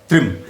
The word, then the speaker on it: त्रिम: और इसका जो मंत्र है वो है त्रिम नमः। त्रिम, TRIM, इंग्लिश में अगर लिखेंगे तो आपको थोड़ा प्रोनाउंसिएशन में मदद मिल जाएगी।